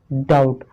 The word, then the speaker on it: doubt: के बाद देखा था, अभी देख रहे हो टी से पहले बी साइलेंट रहता है। क्या रहता है, साइलेंट रहता है, मतलब चुप रहता है। ठीक है, चुप रहता है मतलब उसको नहीं पढ़ना, उसको नहीं बोलते हैं। ठीक है, हमारा पहला एग्जांपल है डाउट, DOUBT, डाउट।